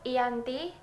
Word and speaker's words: Giyanti: Dalam pelafalan Belanda, ia disebut Iyanti, secara tertulis ia terbaca sebagai Giyanti.